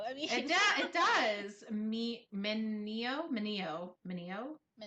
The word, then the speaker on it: Mineo: I always want to call it Minnow. I don't know why. Well, it kind of looks like Minnow. I mean, It does. Mineo, Mineo. Mineo. Mineo Emoto Enomoto.